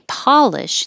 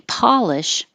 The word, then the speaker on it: Polish: We polish and then Polish. The stress stays on the same syllable, but now the po sounds like o.